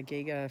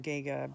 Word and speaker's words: Giger: turned out that she was a real HR Giga fan uh gega being you know the um guy who did